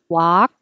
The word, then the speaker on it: walk: I'm sorry Olga work walk Were King Wah King so um same e work the vowel is er like her oh walk ah like ah work like her walking